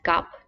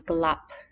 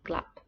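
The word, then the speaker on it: กลับ: Next, to return ก ล ั บ This one has the consonant that's kind of like an L, which sometimes people don't say. So sometimes you might hear this word pronounced as gap, but the very precise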